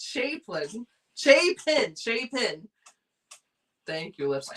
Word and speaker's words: Chapin: Teresa said it's Harry Chapin, but I said it's Harry Chaplin or Chapin, but it's Chapin.